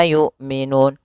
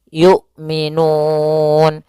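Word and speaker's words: يُؤْمِنُونَ: Kemudian yu'minun yaitu hamzah memiliki sifat jahar dan sifat syiddahnya dan jelas ya, maka suaranya harus tertahan nafasnya dan tertahan suaranya.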